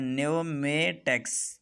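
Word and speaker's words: pneumatics: यहाँ पर शुरू में तो पी है, लेकिन उर्दू प्रोनाउंसिएशन में शुरू में एन नज़र आ रहा है, नून नज़र आ रहा है, इसलिए कि पी एन से पहले आया है और जब एन से पहले आ जाए तो वो साइलेंट रह जाता है।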